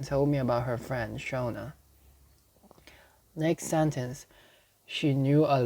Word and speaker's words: Shona: about her friend shana not sana from twice but shona s-h-o-n-a shana let's confirm its pronunciation shona shona uh we'll stick to